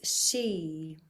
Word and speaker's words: Xi: I'm going to share the mantra and so you'll see the first word of each line is she and she is the sound the da vibrational sound for vibrating and resonating our fifth soul house the throat area.